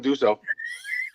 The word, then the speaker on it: Dussault: Yeah, no, you said it right this time, Dussault. Like D-O-S-O.